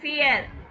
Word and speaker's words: vier: fear. நான் வி என்ன சொல்லியிருக்கேன்? ஃபவ் ப்ரொனவுன்ஸ் பண்றோம் இல்லைங்களா?